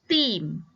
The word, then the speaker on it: theme: Alright, the first example is theme. Theme. Okay, it makes the E in front says its name, theme. And it doesn't make a sound at the end. Dia tidak berbunyi pun di belakang.